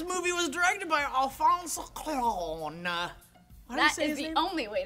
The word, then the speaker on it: Cuarón: This movie was directed by Alfonso Cuarón. That is the only way to pronounce it. Alfonso Cuarón.